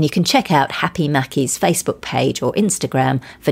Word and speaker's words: Maki: Owner Anna McDonald shared a post on her Facebook announcing the upcoming launch in mid-December of Happy Mackie, and that's spelled M-A-K-I, which will offer eat-in, takeaway and deliveries.